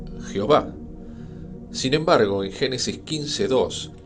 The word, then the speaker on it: Jehová: Estas vocales son la E, la O y la A, lo cual podría alegar que la pronunciación sería Jehová.